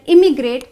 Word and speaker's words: immigrate: First of all, emigrate has a small E sound like this and immigrate has a small I sound.